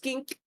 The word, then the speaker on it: kink: time you have teink technically it's pronounced Kink Kink anyways next time